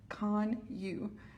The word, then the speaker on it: Kanuch: We're here today because someone killed my son, Austin Kanuch, and the correct pronunciation of his name is Kanuch, like C-O-N-Y-U.